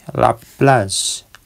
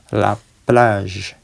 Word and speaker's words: la plage: mobil lawajur kemudian C laplaz laplaz Oke bunyi G itu seperti J ya Z la plage pantai yang terakhir laamezong